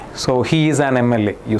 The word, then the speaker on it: MLA: Because although M is a consonant, okay, you are uh when you pronounce MLA, it makes a sound, right? E sound. MLA. So M uh that it starts with a vowel sound.